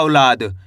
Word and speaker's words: औलाद: इसको अपन औ करके पढ़ेंगे। ऐ से नहीं पढ़ना। ओ? अगर आप ओ पढ़ोगे तो ओ की मात्रा का उच्चारण हो जाएगा।